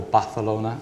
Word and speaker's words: Barcelona: to get into B Barcelona or balona as you should pronounce it um we'd love to